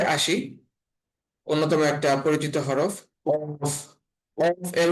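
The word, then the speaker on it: ق: অর্থাৎ পা ফা তারপরে আসি অন্যতম একটা পরিচিত হরফ কফ কফ এর উচ্চারণটা হবে মোটা এবং গলার মাঝখান থেকে কফ কফ তারপরের হরফের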